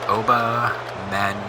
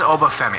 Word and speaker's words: Obafemi: hurt OB obam Mena's is it OB okay this is going to bother me if I'm saying it wrong Oba men so oh my what a splash massive damage to the whole body Oba Oba fi I am is it oi it is obafemi I apologize like I